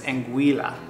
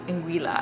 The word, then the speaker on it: Anguilla: I don't say this correctly, I think it's Anguilla. Anguilla, I'm pretty sure it's the correct pronunciation, but you guys can let us know if we're saying that improperly.